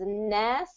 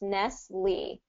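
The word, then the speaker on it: Nestlé: Um, in America we pronounce it as Nestle. Nestle. Nestle. Nestle. Yeah. So any comfort uh commercials that come on for Nestle um it's usually pronounced Nestle.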